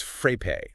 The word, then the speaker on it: Frappe: you even pronounce that it's frae like pay but with a fra at the beginning okay frappe got it